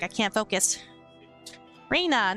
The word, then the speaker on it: Rena: It's Rena, Rena. Everyone pronounces it differently.